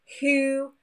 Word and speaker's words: who: Actually, with WH words followed by an O, the W is silent, and it's that H that we can hear instead. For example, who and whole.